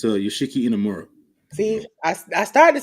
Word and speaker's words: Yoshiki Inamura: It's Yoshiki Inamura.